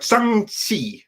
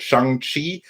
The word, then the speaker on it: Shang-Chi: So no, it's like Shang-Chi or something like that. That's how it is supposed to be pronounced. And for all of you that said Shang-Chi or Shang-Chi or some variation thereof, you all need to do better.